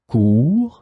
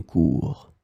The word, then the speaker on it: cour: In this lesson, we will see together 3 words that are written differently but pronounced the same way. Cours, cours, cours.